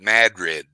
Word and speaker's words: Madrid: in new mexico okay they pronounced it mad red the locals did they get mad at